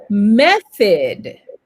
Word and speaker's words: method: Vous, ici, c'est un soft TH, OK? Donc, vous passez la langue entre les dents du haut et les dents du bas et en fait, votre langue,